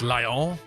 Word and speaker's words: Lyon: Lyon is pronounced Lion.